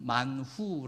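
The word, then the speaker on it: מן הוא: 맞나 라고 하는 것인데요 이것은 히브리어로 른 만 후 라고 발음을 합니다 그런데 이만 후가 이아람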